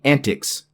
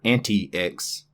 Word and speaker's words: antiX: The founder of Antix, the creator of Antix, originally wanted it pronounced Antix. You can find this on the internet. Just Google it. He wanted the Linux distribution to be pronounced Antix, not anti-X. Ubuntu.